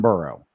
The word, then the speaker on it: Burrow: One thing I got to say, Jim, you said his name wrong. It's Joe freaking Burrow.